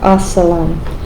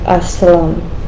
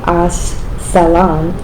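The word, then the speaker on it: السلام: Assalam. Assalam. You don't really pronounce like a salam. You say it all together.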